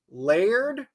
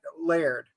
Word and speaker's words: Laird: there and he goes my name's Laird layered like that Laird one syllable layered and they keep going